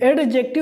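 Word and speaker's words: adjective: एडजेक्टिव हल्का सा एकदम एकदम ड साइलेंट नहीं मतलब है थोड़ा-थोड़ा एकदम साइलेंट नहीं करना है और एकदम पूरा भी लेना नहीं बीच में है एडजेक्टिव।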